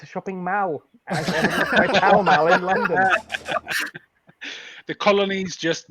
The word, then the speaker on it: Pall Mall: By Pall Mall in London.